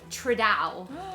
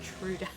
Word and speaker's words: Trudeau: people's names completely wrong, including, and I quote, uh, D Justin Tral. And I was like, I think they mean Justin Trudeau.